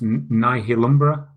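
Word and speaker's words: Nihilumbra: other game on the Vita called and it's pronounced nah he'll Umbra on me kill Umbra it's one of the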